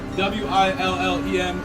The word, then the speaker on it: Willem: I believe that's how you pronounce that. W-I-L-L-E-M.